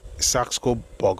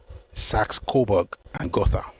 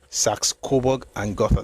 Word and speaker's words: Saxe-Coburg and Gotha: beats me, so let me look for the pronunciation I read to you. Somehow, Saxo-Borg or something, it's very Germanic. I'm going somewhere, please stay with me. It's Saxe-Coburg and Gotha. Saxe-Coburg and Gotha.